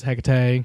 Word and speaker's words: Hecate: Um, also they pronounced Hecate wrong. Um, when they were doing the ritual to bring it back, they say like he uh it's heate. I'm pretty sure.